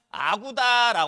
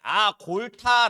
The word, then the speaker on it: 아골타: 부락을 통일한게 여진의 영웅이었던 아구다 하는 사람이에요이 아구다 한 자식으로 발음하면 아골타 발음하는 거야 알겠지 어찌됐든 이양반이 여진